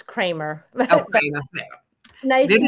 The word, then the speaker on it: Kramer: I'm in the United States, so it's Kramer.